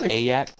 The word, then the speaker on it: Ayak: Ayak, why don't you talk about this one? And I pronounced your name correctly for once. Do I get a cookie? Actually, it's pronounced Ayak. Get it right, kid.